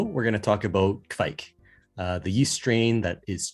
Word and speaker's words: Kveik: Have you had a Kveik beer, Don? And I'm pronouncing it correctly, right?